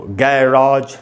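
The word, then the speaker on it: garage: तो ये है दोस्तों गैराज या गैरेज, दोनों ही करेक्ट प्रोनाउंसिएशन है।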